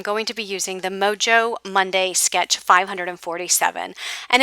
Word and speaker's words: Mojo: in the past and i've been saying it wrong all this time i've been calling it moho monday because that's the spanish in me wanting to call it moho and then one of